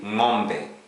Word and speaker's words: ng'ombe: Now, we also have NG with an apostrophe. That is pronounced as as in sing, yang, ring. A good example in Swahili, ng'ombe, cow, ng'ombe, cow.